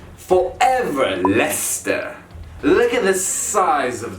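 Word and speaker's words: Leicester: personal favorite the one that i have been mispronouncing forever lester look at the size of this word it's not a lachester not lay what is the point of all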